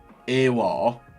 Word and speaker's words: Aouar: I did ask people on Twitter how to say his name, and they said Aouar, like a pirate.